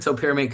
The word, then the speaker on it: topiramate: I I pronounce it topiramate cuz that's how I can phonetically spell it, right?